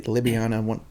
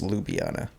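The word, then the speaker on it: Ljubljana: was name City lubiana or Li libyana I can't pronounce it right but I think it's lubiana so they told us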